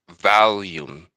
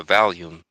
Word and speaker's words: Valium: I think I think the drug might be pronounced volume, right? It actually has an A. So I think it's val like V A L I. Like Val. Yeah, Valium.